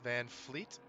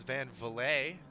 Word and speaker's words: van Fleet: his last name now I thought it was Van Valle um but I like to make sure I get the names right so van Fleet van Fleet all the uh all